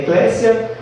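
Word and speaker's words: ecclesia: grego quanto em latim a pronúncia é Eclésia e eclesia que é chamado para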